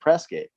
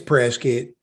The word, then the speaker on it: Prescott: the locals calls it pressgate it's press kit and i just i'd i'll never understand that it's spelled prescott but we call press kit yeah exactly where do